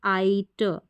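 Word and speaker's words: sight: एस को क्या पढ़ेंगे स क्या पढ़ेंगे स फिर आई जी एच लिखा है तो इसको पढ़ेंगे आई और टी का उच्चारण होता है ट तो बन गया स साइट साइट साइट एस आई जी एच टी साइट आगे बढ़ेंगे तो हमको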